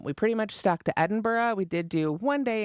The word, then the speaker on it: Edinburgh: time in Edinburgh and had to really practice not to call it Edenberg. That was like such a hard thing because then every time I went to spell it on something, of course, I want I had to say Edenberg in my head, right, to spell it out. Um, so I really had to practice to say Edinburgh while I was there.